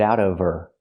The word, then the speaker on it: out of her: Now we need the Vv sound in of because we don't pronounce the H in her. We link the sounds. Get out of her. Now it's a vowel. Out of not out of her. The H is silent.